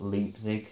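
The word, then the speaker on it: Leipzig: but it came from loop Zig again I'm not sure hardly pronounce on someone said it's pronounced leap Zig so so I'm sure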